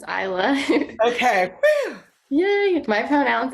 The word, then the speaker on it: Isla: I want to make sure I pronounce this. Is this Isla? Isla? Is that? Hi, yes, it's Isla.